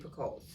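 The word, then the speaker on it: Picoult: several books of jodie picoles and i think it's for coal pickle i don't think the t is pronounced correct me if i'm wrong right i think that the t is silent so it's p judy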